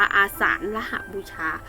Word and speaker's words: อาสาฬหบูชา: ท้าย คะ คือ ว่าน อาสาฬหบูชา นะ คะ อ่าน ว่า อาสาฬหบูชา ตรง กับ วัน ที่